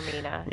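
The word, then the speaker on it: Vaermina: How do you pronounce that? Vermina, Vermina? Vermina, Yeah, Lady of Dream.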